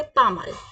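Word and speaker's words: pas mal: बोले कभी नॉट बैड तो हम क्या बोलेंगे पा माल क्या बोलेंगे पा माल पा माल ओके सो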